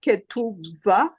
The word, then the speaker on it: ketubah: So do you say that? Ketubah? Ketubah. Okay, I know how to spell it, but I thought you said V for the B.